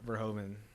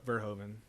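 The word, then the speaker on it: Verhoeven: the end of it but yeah Paul uh verhomen I'm gonna go with that pronunciation verhoven yeah wild director what else has he done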